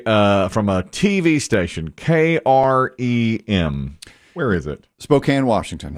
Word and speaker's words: KREM: from a tv station k-r-e-m where is it spokane washington okay and we've heard from people who have lived in that area that they actually pronounce it krem they say it like a word well i wondered about